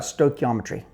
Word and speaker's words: stoichiometry: One is you had talked about stoichiometry.